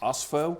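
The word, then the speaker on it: Ospho: It's pronounced OSFO, and this is the company that makes it.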